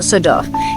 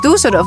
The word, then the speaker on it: Düsseldorf: Haha Parce que si vous appelez cet endroit Dusseldorf, cela voudrait dire que ce village... car dorf signifie village. voudrait dire que les gens de ce village sont un peu bêtes ?